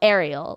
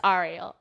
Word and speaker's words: Ariel: dad's name is Ariel, but it's spelled Ariel, like the mermaid, but pronounced Ariel.